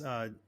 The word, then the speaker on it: Theron: that are listening, it's Theron, Yes, Theron, like and looking on LinkedIn or Facebook. Great. like the actress Charlize. She's also South African.